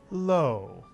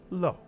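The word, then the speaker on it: לא: of the lamid and the word ends with a silent Olive so the word is pronounced low or low and this is the Hebrew word for no to say no in Hebrew you simply say low so that's the lamid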